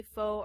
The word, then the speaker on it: pho: Yeah, it I I don't know if you say faux or We say f.